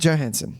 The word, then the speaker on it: Johansson: Johansson.